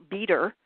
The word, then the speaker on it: Beter: I forget the name exactly, but he on the internet, if people want to go to his audio letters, his last name is spelled Beter, Peter, and he is gone now,